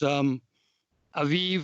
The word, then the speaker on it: Aviv: It's Aviv or Abib, depending on how you like to pronounce it.